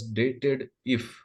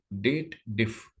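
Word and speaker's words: DATEDIF: Clause is there and they should read it as dated if but actually this is date related formula you must read it as date it will be pause div date diff you should pronunciate like this and to prove that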